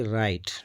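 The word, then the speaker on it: write: अगर अगर डब्ल्यू के बाद आर या एच हो तो डब्ल्यू आवाज नहीं देगा। जैसे कि राइट डब्ल्यू आर आई जी आर टी ई डब्ल्यू आर आई टी ई राइट।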